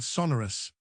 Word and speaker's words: Sonorus: Then, in a fluid motion, he popped out his wand, whirled it towards Quirrell's head, and yelled Sonorus as loudly as he could, making sure to emphasize the first syllable.